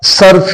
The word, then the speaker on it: صرف: ٹیسٹون یہ سائلنٹ ہے۔ تو صاد کے اوپر زبر، رے کے اوپر زبر، پھر سائلنٹ۔ تو سرو کا مطلب